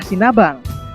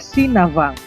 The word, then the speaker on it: Sinabang: Ibu kota Kabupaten Simelu adalah Sinabang. Kalau diucapkan dengan logat daerah adalah Sinavang, yang berasal dari legenda Navang.